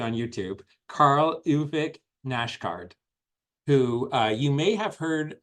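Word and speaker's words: Karl Ove Knausgård: So my next book is called Spring, and it's by a Scandinavian author who, and I looked up the pronunciation on YouTube, Karl Ove Nashgard, who you may have heard of this author before.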